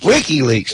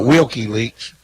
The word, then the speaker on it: WikiLeaks: did last night what he how do you pronounce that Danel wik Wikileaks not wiky leaks oh well he ran for an office a